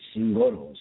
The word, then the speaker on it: Zingoros: Zingoros or? Yeah, that's correct. You're actually one of the first people to be able to pronounce it. So, yeah, you're correct.